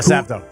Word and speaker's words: Sappho: Is that how you pronounce that? Yeah, Sappho.